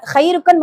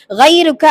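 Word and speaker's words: غيرك: யாருமில்லை அப்படின்னு சொல்லணும் சரிங்களா அதை நம்ம ஹைருக்கன்னு மாத்திட்டோம்னு நினைச்சுக்கோமே உன்னை விட சிறந்தவன் யாரோ இருக்கிறான் மாதிரி அர்த்தம் ஆயிரும் அல்லாஹ் பாதுகாக்கணும் அதனால கைருக்க அப்படிங்கிற அந்த வார்த்தையை கரெக்டா உச்சரிக்கணும் நம்ம இன்ஷா அல்லாஹ் சரிங்களா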